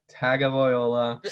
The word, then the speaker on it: Tagovailoa: My go of the week is Tua Tagovailoa. Yes, I pronounced it right.